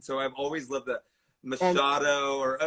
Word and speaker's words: Machado: it right and so i've always loved the masado or how do you say it how do you use it yeah and it's masato and here too talking about legacy so we